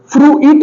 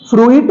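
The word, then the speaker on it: fruit: ये बिजनेस है okay फ्रू इट नहीं है फ्रू इट फ्रूट ना होके य आई साइलेंट हो गया तो ये बन गया फ्रूट एफ आर यू आई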